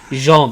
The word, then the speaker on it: Jean: asshole's name is that spelt like gene it's pronounced jean oh yeah jean's gonna die in and mikasa